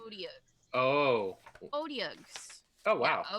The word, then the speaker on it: Otyugh: Odiogs, Yeah.